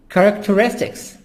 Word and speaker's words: characteristics: Characteristics. H here is silent.